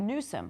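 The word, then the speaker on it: Nuzum: is something that we've learned um through Dr Newsom who's somebody I think that you should follow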